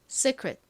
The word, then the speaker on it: secret: 정확한 발음은 secret secret인데요. 끝부분을 secret이라고 발음을 하나이를이 발음을 읽어서 secret secret 이렇게 발음을 하나 뭐 큰 차이가 나지 않습니다.